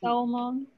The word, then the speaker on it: salmon: here we have some salmon in this case we don't pronounce the l then this is difficult